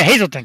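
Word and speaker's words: Hazleton: She was local from is it pronounced Hazelton? Hazelton? I never get that right. Hazelton, right? Yeah, Hazelton, because we were talking about the snow the other day.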